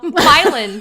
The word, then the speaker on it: Milan: There's also Milan, Illinois, spelled just like Milan, Italy. We call it Milan, y'all. Milan. It's Milan, Illinois. Milan, Illinois.